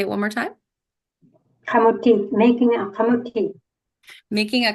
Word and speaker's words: kamutik: And then she also has these other 2 beautiful books, Making a Kamutik. Did I pronounce that right? Yeah. Okay. Kamutik. You want to say it one more time? Kamutik, making a kamutik.